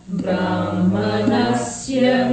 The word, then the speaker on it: Brahmanasya: Yavanartha udapane Yavanartha udapane Sarvatas samplutodake Sarvatas samplutodake Tavan sarveshu vedeshu Tavan sarveshu vedeshu Brahmanas Brahmanasya vijanatah. Brahmanasya vijanatah. Let me hear the ha in Brahmana.